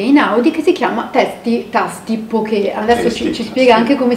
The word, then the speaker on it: Poke: grazie al nuovo tasti poke, con l'accento sulla E, ristorante hawaiano doc che ha